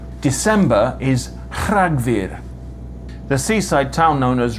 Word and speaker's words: Rhagfyr: Another cool Welsh sound is r, which is spelt RH. It's a rolled r, but without the voicing. December is Rhagfyr.